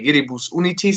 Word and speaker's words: Viribus Unitis: Depending. Like if you go with the English pronunciation, would probably be this. In the German way, we say Viribus Unitis, so that's kind of where we come from.